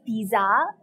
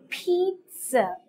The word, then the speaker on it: pizza: sound as in pizza you don't say pizza the correct pronunciation is pizza that is peat like you say peat like seed so you say peat and sir pizza another example where the